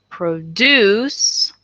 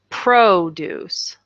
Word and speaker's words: produce: to this word okay so produce okay that's the verb and then produce that's the noun so one has the accent on the backend the other one has the accent on the front end but they are spelled